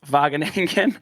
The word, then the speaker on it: Wageningen: american listeners it's written out wageningen but it's pronounced wageningen which i had difficulty with at first i